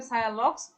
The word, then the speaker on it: sialogogues: হ্যাঁ সায়ালগক্স উচ্চারণ হবে সায়ালক্স, বানানটা ঠিক আছে সায়ালগক্স, SIALOGOGUES।